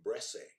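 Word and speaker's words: Bresse: time by a gentleman named bressay i believe that's a pronunciation of his name b-r-e-s-s-e back in the middle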